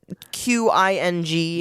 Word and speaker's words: Qing: But it is QING, No, and I get the it. Q is pronounced hearing Yeah.